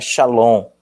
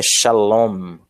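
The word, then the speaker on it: שָׁלוֹם: é bastante conhecida por nós que a palavra shalom aí é homem sou feita aqui ó - o fit shalom chillon shalom no shallon é shalom shalom chilombo ok então temos aqui o -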